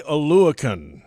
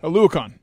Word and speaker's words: Oluokun: Foye Oluokun. Oluokun. That's what I have it as. Yes. Now, I don't have the official it's guide Oluokun.